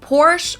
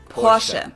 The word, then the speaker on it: Porsche: heard Americans pronounce it Porsche or Porsche in German we say Porsche so there's like this short a sound in the end Portia it was founded by Ferdinand